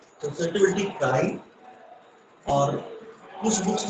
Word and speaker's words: chi: Less is small, कुछ लोग इसको जाई भी प्रोनाउंसिएट करते हैं। ओके, काई या जाई।